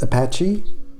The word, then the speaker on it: Apache: En fait, c'était Apache, c'est pas tellement le nom des Indiens, c'est que c'est devenu Apache en anglais, ça se prononce Apache.